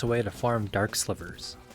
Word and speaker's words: slivers: way to farm dark slivers that's right i said slivers i'm embarrassed to admit i've been pronouncing it as silvers this entire time there are 15 new